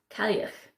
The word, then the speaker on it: Cailleach: Cailleach, I got it, which is Gaelic. And so you can see the spelling, it's nothing like it sounds.